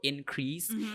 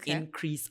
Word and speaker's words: increase: She stressed on the first syllable increase. Increase is possible if we use it as a noun. The increase of uh but it was used as a verb so it should be to increase. Increase. It's the stress is on the second syllable.